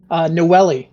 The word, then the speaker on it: Noelle: Okay, Noelle, is that how you pronounce that therapy? That would be correct, yes. Okay, Noelle is the second to arrive.